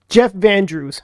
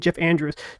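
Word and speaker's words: Van Drew: representative U Van um Jeff vandrew that's who it is I've been saying Jeff Andrews Jeff Jeff vandre he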